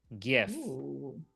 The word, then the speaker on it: GIF: in the chat on behance a history of GIF I think is his argument because the the